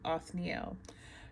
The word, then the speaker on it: Othniel: Or no, Othniel. Let me pronounce that correctly. Othniel, right?